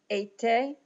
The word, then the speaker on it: été: The forward/ accents, the accent aigu here in être, été, just like the word for summer.